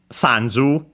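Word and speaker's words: 三十: Uh sanju accent on the first mora.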